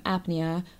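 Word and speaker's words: apnoea: this is spelled a-p-n-o-e-a i believe it's just pronounced the same apnea but it's the british variation i didn't know that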